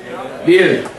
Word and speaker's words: Wil: The next song is dedicated to I played in Veal, or Wheel, how do you pronounce this name for this city? Wheel? Veal.